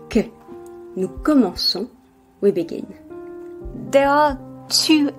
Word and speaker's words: commençons: For verbs in CER, it is necessary to add a cedilla to the C at the first person plural to keep the sound s. Otherwise, it would be pronounced que. Nous commençons, we begin.